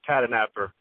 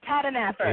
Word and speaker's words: Tahdooahnippah: That's Comanche Boy George Tahdooahnippah. See, it's easier than what it looks like, Tahdooahnippah.